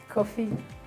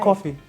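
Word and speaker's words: Quophi: Coffee. Q. Yes. Coffee. That's my husband's name. Ah! Yes. How? How do you spell it? Q-U-O-P-H-I. Q-U-O. Wow. P-H-I. Coffee.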